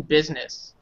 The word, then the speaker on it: business: But bees, it sounds like bees. Bees. Insects. Business, like a bee.